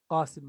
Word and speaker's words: Qasim: You say Qa. This is Qamar, Qamar, Qa, Qa, Qa, Qamar, Qasim, right? Qa and Ka, Qa, Ka, Qa, Ka. So you need to get the difference between these two.